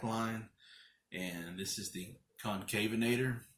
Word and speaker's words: Concavenator: and this is the Concavenator, or the Conconvenator, as my boy Nick Holstetter always pronounces it, which is pretty more scientifically accurate, I think, the way he pronounces it.